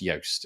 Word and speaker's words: Joost: despite the fact that it's spelt j-o-o-s-t um is pronounced yost it's that's hence why